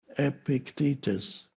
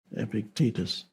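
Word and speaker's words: Epictetus: Epictitus I used to say Epictitus and then I realized that stress the stress is on the second syllable. Epictitus. Epictitus.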